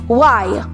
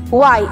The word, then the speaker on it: why: Una, why. Why. You could say why with silent H or why na dinig yung H.